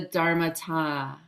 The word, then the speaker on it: dharmata: for having me so what is the dharmata am i saying that correctly you are saying it correctly yeah yeah it's a